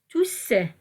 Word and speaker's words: tous: Ici, on va écrire le mot tout avec un S, tous, et on va prononcer le S.